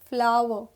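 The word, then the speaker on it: flour: l o u r both are pronounced as flower okay next we have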